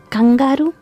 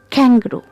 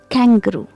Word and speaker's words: kangaroo: it now the next animal how do you pronounce its name do you say like kangaru or kangaro no it's kangaroo kangaroo kangaroo Okay now the next animal okay how